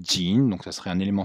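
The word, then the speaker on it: 井: Certains disent que c'est le puits, et le puits se prononce jin, donc ça serait un élément phonétique.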